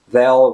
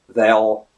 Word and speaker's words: they'll: They'll regret it. They'll regret it. They'll regret it. Dark L sounds all along. Nothing really changes, so definitely want to get it throaty more than anything.